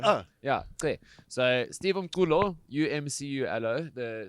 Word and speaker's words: Umculo: that I've got with me here, Steve, insert pronunciation here, I'm going to figure that out. You got it. Steve Umculo.